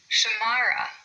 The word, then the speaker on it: Shamara: Shamara, we have three syllables there, and we emphasize the second one.